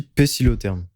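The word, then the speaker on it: pœcilotherme: Poixilotherme. Peut-être, vas-y. Poixilotherme. Sinon, ça se dit pécilotherme. Pécilotherme aussi. Oui, c'est vrai. En fait, c'est que ça s'écrit de deux façons différentes.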